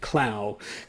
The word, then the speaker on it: Clough: a British architect called, now his first name is spelled Clough, and Ough can be pronounced about 6 or 7 different ways depending on your whim, but I'm going to pick Clough Williams Ellis, who published a book